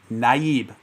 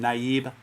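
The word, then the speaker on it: Nayib: name does anyone know naib i'm pretty sure that's the way he pronounced the first name naib bouqueli um not to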